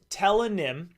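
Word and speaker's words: Tellonym: The Telenym app, pronounced Telenym, allows students and strangers to ask and answer questions anonymously.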